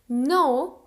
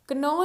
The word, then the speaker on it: know: नो, KNOW, नो, के यहाँ पे साइलेंट है, इसकी प्रोनाउंसिएशन नो है, कनो नहीं है।